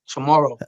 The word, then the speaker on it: Chamorro: Like How do you say it? Tomorrow. Chamorro, yeah. You spelled it. So it's CHAMORRO. Oh, Chamorro, tomorrow. Tomorrow.